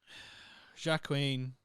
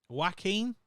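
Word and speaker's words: Joaquin: to read French look Jac Queen jacen that's not his name Jac how' you say his name wackin wackin such a weird name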